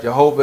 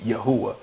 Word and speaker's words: Yahuwah: it uh Jehovah right Jehovah it's it's the same name just mispronounced the J so you have yahoo was really jeho well I'm sorry Jehovah is really supposed to be yahuwah that's his name for